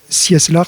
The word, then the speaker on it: Cieslar: Sieslar. Oui, alors justement, c'est là où c'est compliqué. Oui, alors Sieslar, ça s'écrit C-I-E-S-L-A-R.